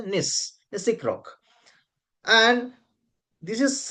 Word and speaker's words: gneiss: Actually, gis we write gis, but we should pronounce as a nis, Nisic rock.